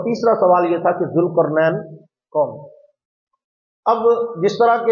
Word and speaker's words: ذوالقرنین: تو بہرحال اس کا صحیح تلفظ جو ہے وہ ذوالقرنین ہے.